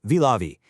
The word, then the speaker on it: Vilavi: Vilavi T8 Stone, pronounced Vilavi.